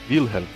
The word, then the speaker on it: Wilhelm: E o sobrenome ele tem uma pronúncia alemã, que é Wilhelm.